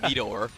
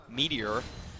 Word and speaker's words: Meteor: I'm sorry, I always try to call him Metoer, but that's a typo. He wants to be pronounced Meteor.